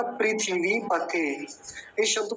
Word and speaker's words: पृथिवी: केवल इतना पृथ्वी लेकिन संस्कृत में जो लिखा जाता है वो लिखा जाता है पृथिवी पृथिवी ऐसा यानी थ पर थ का पर ह्रस्व का और वकार पर दीर्घ इकार हिंदी वाले में तो थका